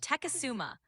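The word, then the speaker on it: Tecumseh: It's pronounced Teasuma.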